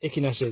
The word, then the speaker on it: Echinacea: At first I sort of I said it the way it's written. I'm like, no, that's not the way you pronounce it. So S4 1437 Echinacea.